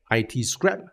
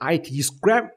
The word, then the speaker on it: ITscrap: But there are multiple ways to split these words. It can be itscrap, or it can be it's crap. And if you pronounce it that way, it reduces the legitimacy of your business.